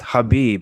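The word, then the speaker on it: Khabib: the K word am i ignorant is it Habib now what's going on with that well it's pronounced Habib and it's funny you bring that up because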